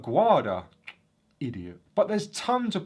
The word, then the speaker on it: Aguada: Upon visiting the fort, I had no idea how to pronounce the name correctly. I kept calling it Fort Aguada. Fort Aguada. It's actually Fort Aguada.